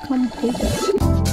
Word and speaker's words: Konpeito: It's pronounced Kanpeito.